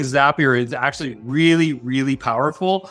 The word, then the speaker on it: Zapier: and your first-party online ordering system tools like zapier or excuse me you know what I've been corrected on this several times it's pronounced zapier you know it's spelled zapier and I've been